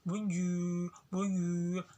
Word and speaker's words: bonjour: Kalau di alfabet bahasa Indonesia tuh R, tapi kalau di bahasa Prancisnya kayak suara gonggongan sih apa itu? Kayak serak-serak bahasa gitu. R. Kayak bonjour. Karena tulisannya tuh bonjour. Nah, bacanya bonjour. Nah, itu kayak R-nya itu tipis gitu ya.